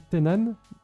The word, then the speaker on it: Thennan: si je me trompe, mais moi je dis Tenan, mais peut-être que c'est pas ça. C'est c'était Nan, tu le c'est dis bien. Tenan.